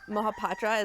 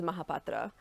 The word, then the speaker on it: Mohapatra: see it's beautiful sure so my last name is um mahapatra is how i usually say it for everyone because it helped to break it down phonetically the actual indian way of saying it is mahapatra but that patra is